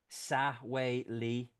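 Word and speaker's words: Sexwale: politician oh my God pronounced sahe Lee but still so it' be Tokyo Sai but it's it's spelled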